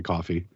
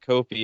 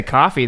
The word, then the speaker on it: Ko-fi: okay here's the thing here's the thing about saying it Kofi is it's spelled really goofy right so if you say Kofi no one's going to know how to spell what you just said so they're going to have to ask how to spell it which is exactly what you want when it's spelled ko-fi exactly if you say coffee